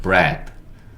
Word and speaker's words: bread: 기억하시면 돼요 그럼 마지막가 남았죠는 드 그래서 요거는 bread bread 이렇게 읽어지는 단어입니다 브레드는 빵이에요 빵 서양인의